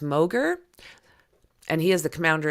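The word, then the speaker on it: Mauger: And they've got, well, this is Rear Admiral, I think it's pronounced Moger, and he is the commander of the 1st Coast Guard District.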